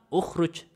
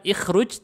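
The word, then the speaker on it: اُخْرُجْ: uj meniru Ain fi'ilnya kenapa kalau pakai i gak cocok coba kita bilang ikhruj kejauhan nih bibir ini ya gerakan bibirnya kejauhan ikhruj orang Arab suka yang gampang-gampang ukhrujah mudah pengucapannya Kalau ikhruj muter-muter bibirnya lidahnya takut kegigit jadi bilangnya bukan ikhruj tapi ukhruj ukhuj ukhruj lebih mudah karena hakikatnya bahasa itu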